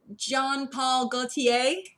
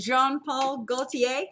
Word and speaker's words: Jean-Paul Gaultier: probably gonna say this wrong if someone can john paul gaultier is that how you say it jean-paul gaultier when i was little i'd say john paul